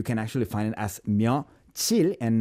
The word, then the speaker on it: 며칠: But, back in days, it was spelled 몇 and then 일. It was separated. 며칠. But the pronunciation was so like 며칠 that they eventually changed it officially to be 며칠. So now, if you look